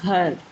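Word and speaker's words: گھر: When these two letters are joined together, we pronounce gh, gh, like ghar.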